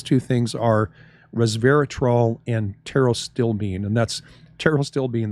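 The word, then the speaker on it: pterostilbene: things are Resveratrol and Tero still bean and that's Tero still Bean that starts with a P but the p is silent so Peto still Bean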